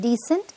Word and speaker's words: decent: we can say so there's a slight difference in pronunciation decent and descent Descent of the hill